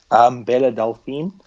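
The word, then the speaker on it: Belle Delphine: Okay, so I'm gonna start off the news story with I do know how to pronounce this, Liam. You do. Bella Delphine.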